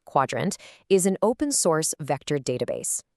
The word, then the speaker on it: Qdrant: Qdrant, and by the way, it's pronounced Quadrant, is an open-source vector database.